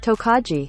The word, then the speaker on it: Tokaji: how you say it according to the Internet tokaji so this one is a straight rye whiskey